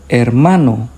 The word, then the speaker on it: hermano: For example, hermano. Hermano. Hospital. Hospital. Hora. Hora. The H doesn't make a sound.